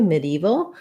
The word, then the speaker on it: medieval: So the first pronunciation I gave you, medieval, is how I would typically say it. The stress is on the E syllable, medieval. And it sounds actually more like mid-evil, like the words mid and evil.